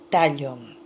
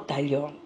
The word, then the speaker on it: Tallon: se llamaba José Sebastián Tallon. No Tallon, Tallon, así se debe pronunciar.